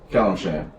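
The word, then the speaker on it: Calimshan: Is it Kalimshite? Kalimshan.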